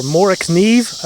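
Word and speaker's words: Morakniv: Mora in your collection, or Mora kniv, I believe is the correct Swedish pronunciation.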